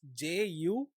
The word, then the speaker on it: jugaad: So how do you spell that with English characters? It's Jugaad.